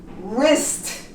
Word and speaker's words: wrist: Wrist. We don't pronounce W.